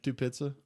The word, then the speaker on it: Tupitza: doing freaking blow back there, Tupitza.